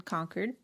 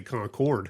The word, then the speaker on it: Concord: And we ended up staying a night over in conquered. Yeah. It it looks like Concord, but that is not how you say it. Do not say Concord.